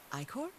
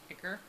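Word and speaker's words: ichor: Icor? Isn't it pronounced Icker?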